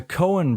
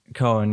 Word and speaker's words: Coen: the Coen brothers directed Coen. Yeah, that's what I thought. I've just been in the Netherlands too long, where the way you pronounce OE is oo, not oe.